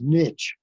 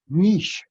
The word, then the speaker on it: niche: All you need nowadays is, well, in America, it's pronounced niche. In England, it's niche.